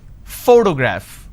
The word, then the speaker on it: photograph: graph now pay attention when i pronounce this particular word photograph the correct pronunciation is photograph which means i am stressing on this particular syllable which is the first syllable please give me the